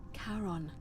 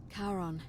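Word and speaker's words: Charon: it only your pronunciationism it was c h a r o n as in Caron the ferryman of the Dead karon who in exchange for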